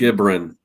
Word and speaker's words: Gibran: I think it's It's Gibran. Okay, so it is Gib. Gibran. Okay, good. Because I want to make sure I'm not getting it wrong and doing the Jeff pronunciation.